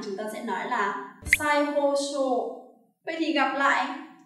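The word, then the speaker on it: 再: Tiếp theo chúng ta có một số tiền tố nữa, đó là tiền tố sai. Chữ này của âm Hán Việt là tái, và khi đứng một mình nó đọc là futatabi, làm cái gì đó lặp lại, đúng không nào?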